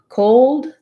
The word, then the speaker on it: cold: to our earlier discussion cold is like the coal plus a d so for typical speech if i'm saying cold i'm not um necessarily going to do a strong d there and when you're listening